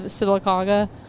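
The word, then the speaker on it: Sylacauga: A C A U G A silaga silicaga is how you say it and she said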